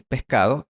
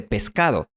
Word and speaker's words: pescado: Por ejemplo, en esta ciudad es común pronunciar Oscar en vez de Oscar y pescado en vez de pescado.